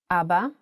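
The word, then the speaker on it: אבא: Also, the word Abba has kamatz under two of its letters. Abba. And in print version, Abba.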